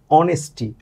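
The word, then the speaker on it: honesty: আ দিয়ে আ দিয়ে আওয়ার তাহলে এটা কি হবে এটাও এন হবে এরপরে দেখেন অনেস্টি অনেস্টি অ দিয়ে দিয়ে শুরু হচ্ছে তাহলে এখানে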